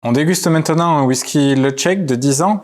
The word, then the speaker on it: Ledaig: déguste maintenant un whisky le check de 10 ans le check ça s'écrit le deck led a I g et ça se prononce le check c'est une très très